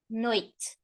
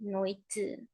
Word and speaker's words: noite: We don't say noite. We say noite. Noite, noite. Lower.